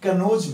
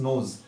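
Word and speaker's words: knows: अब यहां पे कई लोग बोलते हैं ही कनोज मी, कनोज नहीं, दिस इज नोज। यानी के यहां क्या रहेगा, साइलेंट रहेगा। क्यों, क्योंकि के का प्रयोग एन से पहले किया गया है। जब के का प्रयोग एन से पहले किया जाएगा तो वहां के क्या होगा, साइलेंट होगा, ठीक है।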